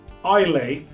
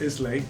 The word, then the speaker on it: Islay: got the scarabus um ilay not islay I learned the correct pronunciation uh from somebody uh